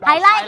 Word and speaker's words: highlight: Highlight. Misalnya kan Higlik. Ya highlight bacanya. Highlight yang diancol. Highlight. Ya kan bacanya highlight.